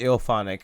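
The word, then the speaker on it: IllFonic: each other you know are they called just ill-onic i mean that's what it's ill phonic okay maybe that's right yeah that's how you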